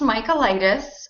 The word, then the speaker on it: Mikolaitis: last name justine um well it is pronounced michaelitis um it's um it's practically